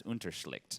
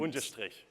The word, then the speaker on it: Unterstrich: Also, everybody in the world will have to learn to pronounce Unterschlicht, which I didn't. Unterstrich.